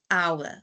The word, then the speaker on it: hour: Although we spell it with an H, we do not say how. We still say our.